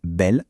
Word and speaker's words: belle: La première syllabe belle se termine par le son le. Elle est donc fermée. Et voilà pourquoi le e de belle se prononce e.